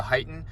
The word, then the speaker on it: HEIGH10: It's kind of spelled HEIGH10, but it's pronounced the HEIGH10.